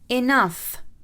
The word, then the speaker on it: enough: So for the f sound, enough, enough.